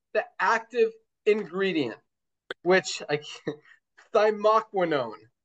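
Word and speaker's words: thymoquinone: But there's one crucial part of it and that is the active ingredient which I thyquinone. I think I pronounced that right. Dr. Ryan said I did it right last night.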